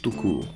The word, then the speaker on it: Tukur: En effet, Felidae a la chance de composer avec un chouette casting vocal, notamment Ulrich Tukur. Et pas tout court quoi.